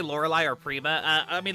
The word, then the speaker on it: Lorelei: in the English tub and Laura lies three syllables prima's two syllables so they had to uh